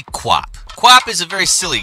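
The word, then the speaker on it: QWOP: how to pronounce it i've called it q-op in the past but it's apparently kwop kwop is a very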